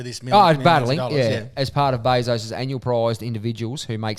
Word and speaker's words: Bezos: um Amazon founder Jeff Bezos Bezos I think they pronounce I believe it's Bezos BOS and his fiance Lauren Sanchez